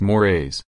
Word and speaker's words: mores: a bad look B morays mores pronounced mores are much stronger Norms